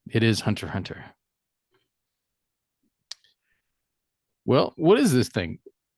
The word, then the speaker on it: Hunter x Hunter: it but it's just Hunter Hunter right the ex is silent I was corrected on